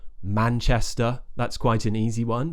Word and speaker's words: Manchester: really common places like Manchester that's quite an easy one just make sure if you're going for an RP accent you don't pronounce the r at the end Manchester we don't pronounce it